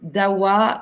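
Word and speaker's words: Dahua: Donc, ah oui, DAWA s'écrit D-A-H-U-A.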